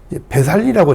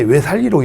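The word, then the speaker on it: Vaishali: 그 V 발음이나 배살리. V. 근데 인도인들은 그 발음을 할 때 우 발음을 해. 외살리라고. 뭐 배살리, 바이살리 이렇게 계속 했는데 오래 다니다 보니까 인도인들은 그걸 발음할 때 외살리로 읽는 거예요. 그래서 외살리가 사실은 맞는 거지.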